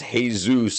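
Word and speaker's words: Jesús: So, so, uh, in in in Spanish, uh, then it's pronounced Jesus, and there's a lot of Jesuses here in America and Mexico.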